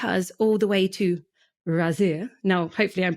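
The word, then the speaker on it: Ghazir: you to take us all the way to razir now hopefully I'm pronouncing it right I did ask just before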